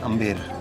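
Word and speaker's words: Amber: Actual जो pronunciation है वो है अम्बेर, ओके, AMBR अम्बेर।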